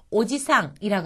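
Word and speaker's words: おじさん: 여기에서는 지금 장음이 나왔잖아요 가령 예를 들어서 오지상 하고 길게 발음을 하면은 할아버지입니다 근데 여기에지 부분을 짧게 발음해서 오지상 오지상이라고 하면은 할아버지란 뜻이 아니라요 아저씨의 뜻이 됩니다 즉 아저씨가 오래 살아서 오지상 오지상 길어지면 할아버지가 된다고 하는 거죠 아시겠습니까 그래서 일본어에서는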